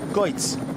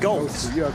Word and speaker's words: Goltz: Goitz. Goitz. I said it right, didn't I, Sebastian? That's Goitz. Yes? Or is it Goltz?